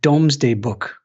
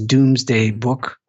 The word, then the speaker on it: Domesday: i called it a domesday book you may be familiar with the reference uh it's mispronounced often as doomsday book that's not what it